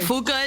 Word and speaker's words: Fuka: Fuka is the correct pronunciation, you know.